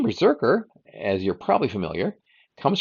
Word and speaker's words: BRZRKR: take out the vowels so this one is spelled BR RZ r KR Berserker the story follows an